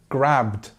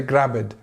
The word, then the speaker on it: grabbed: like this b sound, people might say grabbed. And I've heard this many times with different people from different countries speaking English. They will say grabbed, or they will say another word in that kind of that same rule. But we need to make sure that we just do the bd. So it's grabbed, grabbed. And you can see there's no vowel sound in between.